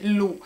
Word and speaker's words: LU: un'altra confezione della marca lì l'ho detto alla francese ma potete anche dire semplicemente lu non so voi come